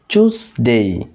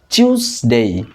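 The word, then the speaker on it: Tuesday: এটার উচ্চারণ আমরা সাধারণত করি। টুয়েসডে বাট ইটস নট টুয়েসডে। এটা হবে চুসডেই অথবা চুসডেই আবার একটু খেয়াল করুন চুস দেই চুস দেই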